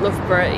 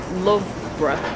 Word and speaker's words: Loughborough: If you want to say it Loughborough, it should be L-U-F-F-Borough, surely?